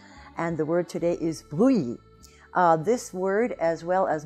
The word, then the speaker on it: Brou: First, we have the first syllable, bru, and whenever you have the spelling O-U in French, you have the sound OU, which is this phonetic symbol here. But also in that first syllable, you have the French R, the R. And this R does cause trouble for a lot of English speakers.